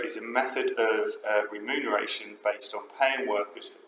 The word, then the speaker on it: remuneration: key uh term which sounds a bit weird but it is remuneration spelled like that with the m and the N there remuneration of the methods that